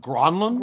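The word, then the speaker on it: Granlund: you guys recall gave doc Emer the correct pronunciation of gronland gronland and so Doc is like gronland and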